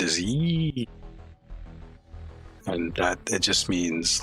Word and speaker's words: Yi: And the sound is yee.